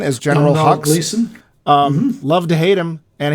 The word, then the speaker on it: Gleeson: I don't know how to pronounce that. Gleason as General Domhnall Hux. Gleeson.